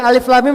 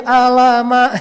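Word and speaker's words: الم: jadi nga gitu kan baca Alif Lam Mim jadi Alama gitu kan karena kita orang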